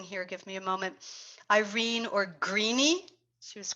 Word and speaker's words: Irene: give me a moment, Irene or Greenie. She was called Greenie. And what else do they have there, Tom? It's 3 syllables, and we use it in Nini, not Rini.